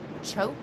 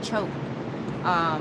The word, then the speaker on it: CHOP: The chemo treatment that he's going to be doing is called CHOP. We thought it was sounded like chop, but I guess the way you pronounce it is choke.